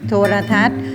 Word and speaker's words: โทรทัศน์: จะ ไม่ ออก เสียง โทรทัศน์ นอ หนู การันต์ จะ ไม่ ออก เสียง นะ คะ ต่อ ไป